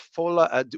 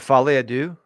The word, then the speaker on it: Folie à Deux: The Joker of Folie à Deux. What is this? How do you pronounce this, B-Show? Isn't it Folie à Deux? Folie à Deux. Folie à Deux.